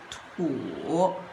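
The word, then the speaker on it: 土: now let's look at it, Li, this character is combined with this part, which pronounced as Tian, and this part, which pronounced as Tu.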